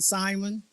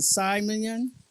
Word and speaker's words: Simeon: some people pronounce it Simon um some people pronounce it Simon and also Simeon Simeon so I choose Simeon um and whatever way